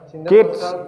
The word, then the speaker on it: gauge: Gauge, bacanya gauge ya.